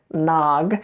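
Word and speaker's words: naag: so in Somali the word for a woman is a nog nog spoke with two A's nog and I was talking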